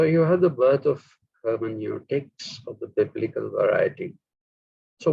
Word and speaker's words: hermeneutics: But my own preference is hermeneutics because it is a Greek word, not a German word.